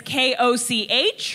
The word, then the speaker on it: Koch: My last name is K-O-C-H, right there. It's meant to be pronounced Koch, but if you're living in an English-speaking country, 8 out of 10 times, it is Olga Koch.